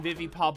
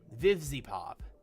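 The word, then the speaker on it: VivziePop: I kept saying Vivi Pop, and that's not her name. Vivzy Pop.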